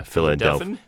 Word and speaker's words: Philadelphian: First of all, this past weekend, not VO related, but I'm celebrating because I'm a native Philadelphian. Is that the right way to say it? Yeah, Philadelphian.